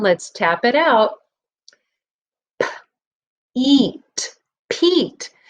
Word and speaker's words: Pete: Eat, Pete. The E is silent, but its job is to jump over the T and tell this E to say its own name.